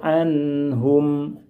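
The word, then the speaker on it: عنهم: Ingat, nun sukun model yang pertama tidak boleh dibaca panjang. Contoh, tidak boleh kita membaca seperti ini. Radiyallahu anhum. Cara pembacaan barusan itu terlalu lama, kurang tepat. Dibaca pendek saja.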